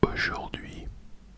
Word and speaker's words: aujourd'hui: You would say aujourd'hui, aujourd'hui, aujourd'hui, aujourd'hui, aujourd'hui, aujourd'hui.